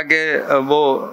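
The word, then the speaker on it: Covey: और इसके जो मुसन्निफ़ हैं स्टीवन कवी, कोई कोवी प्रोनाउंस करता है, कभी प्रोनाउंस करता है, स्टीवन कोवी ज़्यादातर प्रोनाउंस करते हैं।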